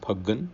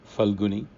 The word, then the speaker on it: ਫਲਗੁਣਿ: cycle santa by we commonly pronounce this month as pagan in punjabi falguni is how it's written and this is the